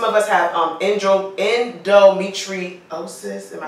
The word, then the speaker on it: endometriosis: we have some of us have on intro endometriosis am I saying correct you said it right